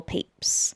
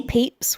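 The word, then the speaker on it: Pepys: is asleep one person who's asleep is Samuel peeps his name is spelled pepis but it's pronounced peeps I promise Samuel peeps was a big wig like literally he had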